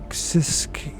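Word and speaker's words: Siskiyou: July 2000 state California sis sisu County that's how I pronounce right s i s k i y u County location details the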